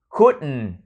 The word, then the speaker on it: couldn't: cái hơi còn lại của U tiếp tục phát âm O. U, fool, feel, fool. I felt like a fool when I couldn't. Couldn't là quá khứ của cannot nha các bạn, của can.